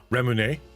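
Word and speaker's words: レモン: Remon.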